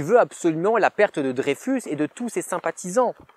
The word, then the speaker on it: Dreyfus: On dit Dreyfus, on se souvient. Le petit Usul, il fait de l'appropriation culturelle, on ne prononce pas l'alsacienne de Dreyfus.